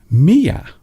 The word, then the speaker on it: Mia: Number 5, Mia. Mia. Mia. It almost sounds like the sound that a cat makes.